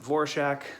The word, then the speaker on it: Dvorak: last name is spelled d-v-o-r-a-k uh typically people with that last name pronounce it dvorak i looked it up she is on the record as saying that she pronounced it vorshak so i'm gonna go